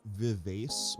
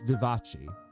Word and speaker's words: Vivace: joke before this character I read her name as Vias before and you were like actually it's like Liberace right like Liberace uh apparently her name is pronounced Vivace so you were right